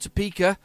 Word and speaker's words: Topeka: Topeka, that's it, Topeka. That was Hatman helped me with that pronunciation.